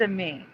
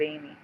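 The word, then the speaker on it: Amie: I think it's a me, and that's why I want to pronounce it a me that's spelled A-M-I-E instead of Amy.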